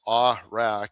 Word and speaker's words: Awrach: And yeah, last name pronounced Awrach, but you know, whatever whatever you like.